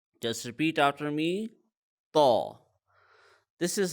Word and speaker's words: Taw: learn is the letter Taw. Just repeat after me. Taw. This is how Taw looks like, and it's a heavy letter because it has an aw sound in it.